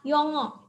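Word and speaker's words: 영어: Yang ini dibaca o. Jadi kata ini dibaca yongo.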